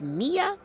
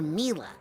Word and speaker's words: Mila: Is it pronounced Mia or Mila? Well, it's short for Camila, you know?